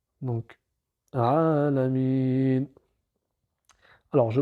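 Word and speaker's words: العالمين: le a sauf que la voyelle ne va pas se prononcer vu que c'est la dernière lettre du verset donc Alamin alors je prononce le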